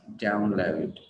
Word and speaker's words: download: Đọc upload, upload, trọng âm rơi vào âm tiết đầu tiên mình sẽ đọc là upload và download, upload, download, nhưng mình không đọc là upload, download, nghe nó không hay, đúng không ạ?